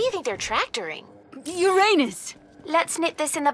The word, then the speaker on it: Uranus: maybe they come from Uranus ah that's funny I don't mean to be approved but please no jokes about Uranus besides the proper pronunciation is Uranus it's a ductal sorry